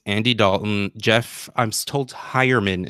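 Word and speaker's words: Heuerman: Dalton Jeff I'm Stoltz hire Minh is the correct way to say it and OJ Howard I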